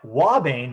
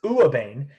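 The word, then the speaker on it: ouabain: Now, wabane, which I first pronounced as uabane, right?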